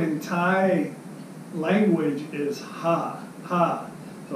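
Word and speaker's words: ห้า: but the letter v in Thai language is ha ha so it's knowing song sip see ha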